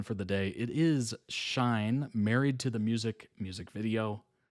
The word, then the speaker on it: SHINee: By the way, SHINee, you pronounce the E's at the end. Oh, SHINee?